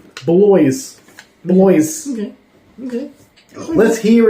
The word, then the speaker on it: Bloys: wrong am I racist it's boys with an L in it bloys boys okay okay let's